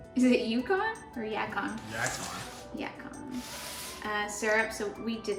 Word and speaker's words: yacon: Yacon.